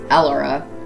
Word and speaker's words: Elara: Thebe is Thebe, Ganymede is Ganymede, Elara is Elara, Eupori or Euporia is Eupori, Calicor is Calicari, Iapetus is Iapetus, and I'm not doing the moons of Neptune.